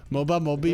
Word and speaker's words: Mobe: Mobe. It's like if I make all the sounds that begin with Mo and end with Bay, I'll get it right eventually.